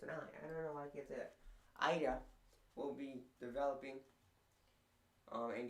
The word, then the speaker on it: Ida: a era aida ida i keep saying ada it's ida i don't know why